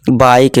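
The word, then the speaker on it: bike: तक पढ़ना है लाइफ बाइक बीके नहीं बाइक टेक गिव मेक तो हमारा ई क्या है यहां साइलेंट रहता है ये बहुत इंपॉर्टेंट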